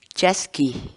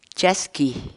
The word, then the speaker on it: chaskiy: de videos en la que te enseñamos a pronunciar algunas palabras en quechua. Así que nuestra palabra del día por hoy es chasqui, chasqui, chasqui, la palabra quechua.